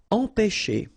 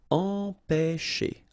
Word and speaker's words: empêcher: Okay, remember, accent circonflexe on the top of E here goes like E. All right, nasal here, en, pe, and then you've got this CH, and it produces this sh sound.